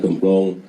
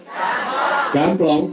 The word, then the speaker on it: Gamplong: Ide beliau untuk menghibahkan studio alam di Desa Gemplong di Kabupaten Sleman. Tulisan di sini gemplong. Yang benar gamplong. Gamplong.